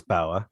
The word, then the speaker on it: Bauer: should we talk about walter bayer it's pronouncing correctly i think it's bauer yeah um i think